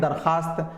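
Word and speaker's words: दरख़्वास्त: लिखा गया है दरख्वास्त, पढ़ते हैं दरखास्त। लिखा गया है ख्वाब, पढ़ते हैं ख्वाब। लिखा गया है ख्वार, पढ़ते हैं खार। ये तीनों के तीनों वाव मादूला हैं, यानी यहां पर वाव साइलेंट है।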